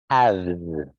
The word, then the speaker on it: halves: Half, halves. Again, silent L. Don't say that L there.